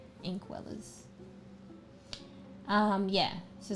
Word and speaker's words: Inkwellers: Uh, not ink dwellers. Inkwellers. Inkwellers. I N K W E L L E R S. No D. Inkwellers.